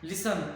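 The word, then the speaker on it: listen: लिसन LIST, लिसन T इसमें silent है।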